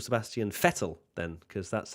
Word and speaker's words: Vettel: fair you call Sebastian Vettel Sebastian fettle then because that's how better it's an F fatal settle okay so